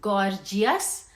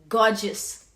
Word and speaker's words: gorgeous: Remember, you do not pronounce this as gorgeous. R नहीं pronounce करते हैं. This is gorgeous.